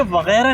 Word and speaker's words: वगैरह: अच्छा, एक तो ये वगैरह नहीं है, वगैरह है। गलत प्रोनाउंसिएशन होता है ना जो।